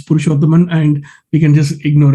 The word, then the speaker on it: Purushothaman: are the 175th person telling my name wrong it's pursuable and we can just